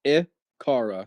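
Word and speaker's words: Icar: It's literally just I car. So, thank Cara and then just put an I in front of it.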